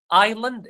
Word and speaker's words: island: Island, the S is silent.